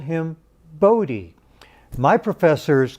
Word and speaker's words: Bode: I've received some comments in the past that said it should be pronounced Bode, a long O, a silent E.